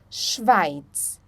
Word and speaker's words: Schweiz: o som de x quando nós temos um s antes do CH nós pronunciamos então o som do X tá por exemplo schwe schweiz schwi OK depois nós temos